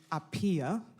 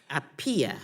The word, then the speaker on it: Appiah: My name correctly pronounced is Appiah. Appiah. Appiah, coming from Ghana originally.